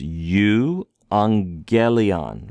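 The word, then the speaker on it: εὐαγγέλιον: in a previous video when you have two gamas together it makes a NG sound okay it doesn't make a GGA sound it makes a sound so this is U angelion right we're try to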